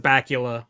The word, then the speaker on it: Bakula: I just pronounce it Bacula, but Bacula. like Dracula.